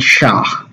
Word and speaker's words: SHA: project is going to have a different commit sha okay so that's how you pronounce it secure hashing algorithm but they'll skip